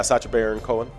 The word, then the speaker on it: Sacha Baron Cohen: hot take right we got uh 1971 uh sacha barra conan uh is that his how you say his name uh yeah sacha baron cohen oh okay yeah he's comedian an actor from